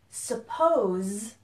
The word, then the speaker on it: suppose: So first thing is that there's a pronunciation difference between suppose which ends with a Z sound.